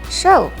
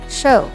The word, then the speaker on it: shew: since its root word is espai the correct pronunciation of the past tense is a spy show old-fashioned spelling of show to exhibit or present